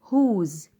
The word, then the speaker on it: whose: ال WH هنا وراها حرف ال O فنطقته ها، يبقى هو، هو، هو يعني من. أو whose بسأل بيه عن الملكية، ملك من؟